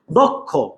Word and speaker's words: দক্ষ: ভাইয়া এখন আমরা শিখব কুমিল্লা বোর্ড 2024 দক্ষ ভাইয়া দক্ষ।